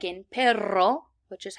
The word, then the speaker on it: perro: And actually, that's how we pronounce double R's, like in perro, which is how we say dog.